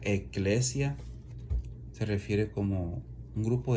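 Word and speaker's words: ἐκκλησία: La palabra iglesia es una palabra griega, que significa, que se pronuncia eclesia, se refiere como un grupo de personas sacadas fuera.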